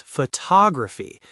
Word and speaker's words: photography: The stress shifts to the second syllable. It becomes photography. Suddenly, that first O, which was strong a second ago, has turned into a weakwah. And the second O, which was weak, is now the strong, clear star of the show.